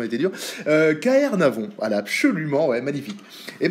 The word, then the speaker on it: Caernarvon: Avant je disais toujours Kanya Navon, maintenant je le prononce, je pense le prononcer bien, voilà, bon bah la prononciation était dire. KR Navon, voilà, absolument, ouais, magnifique.